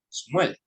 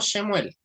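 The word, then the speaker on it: שמואל: Por lo tanto ese nombre va a sonar Shmuel, ¿ya? Shmuel, no Shemuel, como mal pronuncian algunos, sino se dice Shmuel.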